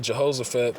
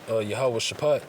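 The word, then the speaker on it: Jehoshaphat: the valley of it say Jehosaphat but and the proper way to say it is yahawah shapat all right all right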